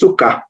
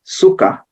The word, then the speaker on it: sukkah: a word that is sukkah it's exactly pronounced the same way and then Swahili we